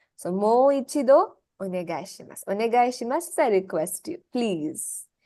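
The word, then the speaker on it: お願いします: Onegai shimasu is I request you.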